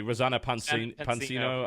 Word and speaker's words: Rosanna Pansino: I can never pronounce her name correctly. Rosanna Pansino, I believe.